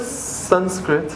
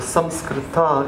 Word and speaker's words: Sanskrit: So the word Sanskrit, or Samskrita, is the correct pronunciation.